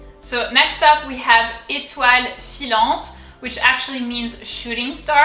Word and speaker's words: étoile: So first, the first E, you can see there's an accent. It's on accent aigu. And so it's pronounced E, we've already seen that. E, the T normal. O-I in French is wa. Étoile, étoile, étoile.